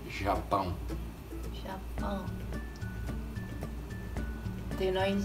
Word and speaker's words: Japão: How do you say Japan in Portuguese? It's Japão.